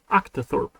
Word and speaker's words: octothorpe: Octothorpe? Is that how you pronounce it? Octothorpe. Octa. Oh, it's not octo. Octothorpe.